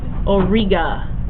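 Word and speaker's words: Auriga: it how's that better a u r i g a Orga and for o it sounds like Eureka for or it is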